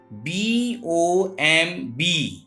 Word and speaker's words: bomb: BOMB. It is bomb, not bomb.